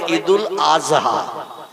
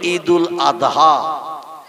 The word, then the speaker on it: ঈদুল আদহা: ঠিক তদ্রূপ ঈদুল আদহা এ শব্দটা হলো শেষে দোয়াত উচ্চারণ করতে হয়, কিন্তু ওরা বলে ঈদুল আজহা। কি বলে? মানে জয় অক্ষর উচ্চারণের মতো আওয়াজ করে বলে। আমরা বলি ঈদুল আদহা, কোরবানির ঈদ।